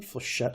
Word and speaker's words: flechette: missile I call it the flechette design you pronounce it flechette missile on sexual you've got a normal missile